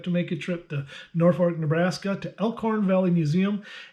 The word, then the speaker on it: Norfolk: And it is Norfolk, even though it's spelled Norfolk, but it's Norfolk.